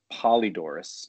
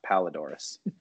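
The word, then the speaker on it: Polydoros: Fox so there's a guy named actually named Michael Polydorus not palledorous it's spelled differently and he did not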